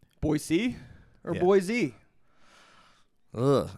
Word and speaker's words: Boise: Boyisey or Boise? Uh I think it's they want it to be pronounced Boisey.